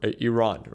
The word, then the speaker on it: Iran: that they, you know, suggested otherwise, uh, for Israel to not attack Iran, right, or Iran, right, is what I've I've learned how to properly pronounce it.